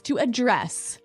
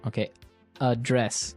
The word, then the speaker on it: address: he said he has addressed this weakness yes to address address address now if you notice it's spelled the same way as address that's right